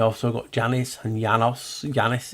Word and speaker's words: Janus: Janus is Janus. You have to pronounce it with a Y, not a J.